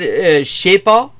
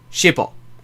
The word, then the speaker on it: je sais pas: That's not how you spell it, but actually that is colloquially how you say it. You pronounce it that way. Like, the way you're taught in school, the way, you know, the proper way of saying is je ne sais pas.